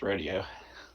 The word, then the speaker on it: rodeo: my first is that rodeo italian no well sir i feel like i should inform you it's actually pronounced rodeo that would explain the